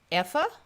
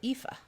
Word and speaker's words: Eva: i'm only half italian eva in german is pronounced effa or ifa okay so that's the